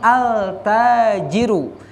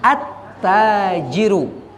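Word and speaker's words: التاجر: disukun tetapi tidak dibunyikan Jangan mengatakan altajirun tetapi attajiru Hai mutu maka bapak-bapak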